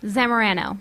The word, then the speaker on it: Zamorano: want to make sure that i get it pronounced properly there zamarano san moreno you know i was probably going